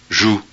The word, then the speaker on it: joue: So I guess that would be pronounced nu. And then we have J-O-U-E, which I'm guessing is jus.